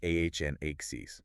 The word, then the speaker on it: onyx: The technical name for the natural nail is the onyx. Onyx, like the stone. Exactly like the stone. It's spelled o n yx and it's pronounced ahn axes.